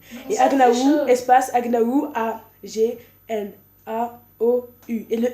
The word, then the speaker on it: Agnaou: nom de famille, mais ma chaîne YouTube, ça s'écrit comme ça. espace Agnaou. A-G-N-A-O-U.